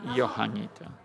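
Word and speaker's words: Johanniter: here their greatest Young Juanita how do you pronounce it that's my reasoning is they come from Germany so let's call it johannita we like it on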